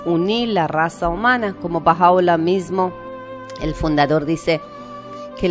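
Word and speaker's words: Bahá'u'lláh: Su nombre es Baha'u'lláh, que quiere decir en español la gloria de Dios.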